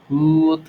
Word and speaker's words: would: No suena la L. Solamente voy a hacer una especie de U alargada y digo would like, would like, would like, would like.